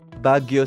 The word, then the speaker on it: Baguio: Sorry, I can't remember how to pronounce where you're from. Say it again. Baguio City.